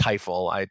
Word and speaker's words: Tajfel: I was taught it's pronounced Teifel.